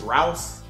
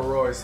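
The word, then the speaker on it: Reus: when the commentator, he pronounced Marco Royce as Rouse. Somebody passed Royce the ball, and he would say Rouse.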